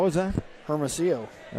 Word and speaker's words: Hermosillo: Hermosillo. All right. You remember a couple years ago, I do. mispronounced that. Yep, you got into some little heat. Yes. And you corrected me that the L's are silent.